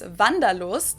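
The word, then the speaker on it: Wanderlust: kind of an old-fashioned German word that we pronounce vandalo and it's literally the desire to wander so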